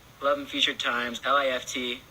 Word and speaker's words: L.I.F.T: like eleven future times li ft is how we pronounce it by the li ft